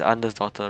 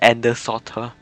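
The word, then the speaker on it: Andersdotter: Is it like it's is Ander's daughter, right? Oh my god. I keep I kept pronouncing it as Ender daughter. Oh no, I didn't know the D there. It was Ander's daughter.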